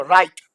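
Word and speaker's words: write: तो यह देखो राइट डब्लू साइलेंट।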